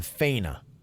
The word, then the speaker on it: Faena: like she stay at the faina Miami Beach is how you pronounce that one I know that's a